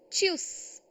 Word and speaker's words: tschüss: Tschüss is bye. Tschüss. Please pronounce it tschüss.